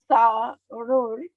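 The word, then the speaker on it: स्थाणुर्: sthāṇur Like how you say sthan, right? Sthan, sthiti, right? So there's a S over here that also has to be pronounced, right?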